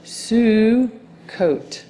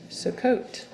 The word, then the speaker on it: Sukkot: Here's the vav with the dot on top, and that makes the O sound, and you don't pronounce the V. And this is the word Sukkot. Sukkot.